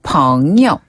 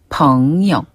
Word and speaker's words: 朋友: 자, 친구는 朋友. 네, 여기서 영어는 짧게, 가볍게. 아, 네. 朋友. 한번 더. 朋友.